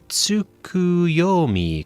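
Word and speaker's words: Tsukuyomi: sip the tea properly it's pronounced tuuku yomi correct a figure from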